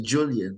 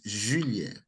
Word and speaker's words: Julien: Oh, Yeah, but English speaking people say Julian, but the proper pronunciation is Julien.